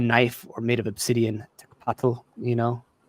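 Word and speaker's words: tecpatl: So, like a knife or made of obsidian, tekpatl, tekpatl, patl, that TL sound still gets me.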